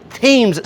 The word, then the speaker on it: Thames: you would pronounce it tem street it's not how they pronounce it here they pronounce the h it is Thames Street if you are in Newport but this is the